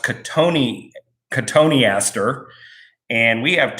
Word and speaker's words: cotoneaster: And cotoneaster looks like cotton yaster with one T, like C-O-T-O-N, and then almost Easter, but it's pronounced cotoneaster.